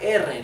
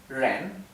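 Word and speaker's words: 人: la r la r Cuando vean r en el p sepan que la r se pronuncia si los chinos no pueden pronunciar r la r dental que tenemos en en español es una r por ejemplo la palabra persona la palabra persona es Ren con el tono ascendente Ren r Así que la r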